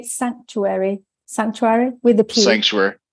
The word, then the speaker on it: Psanctuary: do you say Sanctuary Sanctuary with the people Sanctuary it's uh it never ceases to surprise me when people say pea Sanctuary because we never say peace psilocybin or Psychiatry but for